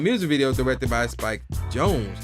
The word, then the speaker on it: Jonze: This version even had its own music video directed by Spike Jonze, how you pronounce that, J-O-N-Z-E, which was nominated for Best